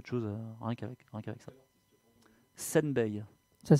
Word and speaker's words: Senbei: On a d'ailleurs quelqu'un tout à l'heure a parlé de Senbei, qui est un des artistes qui utilise le jouet.